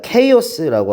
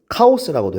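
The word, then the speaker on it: chaos: 자, 케오스라고 하죠, 발음은. 근데 우리 한국말로는 카오스라고도 해.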